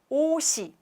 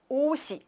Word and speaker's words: 옷이: So what it means, 옷이, when we pronounce 옷이, not 옷이. It's really difficult to pronounce, right? It's really hard to listen, hard to speak. So Korean usually connect when we speak, connect the final consonant and then 이.